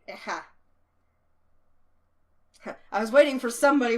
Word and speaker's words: Ageha: Eha. I guess you don't say the G. Eha.